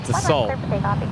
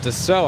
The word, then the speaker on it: Dassault: Dassault, I always pronounced Dassault. Oh, yes. Yes. But they're pronounced Dassault. I learned that from working with those planes.